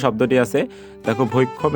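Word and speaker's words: ভৈক্ষ্যম্: এরপর পরবর্তী যে শব্দটি আছে দেখো ভৈক্ষম, এই শব্দটিকে আমরা উচ্চারণ করব কি ভৈক্সিয়ম।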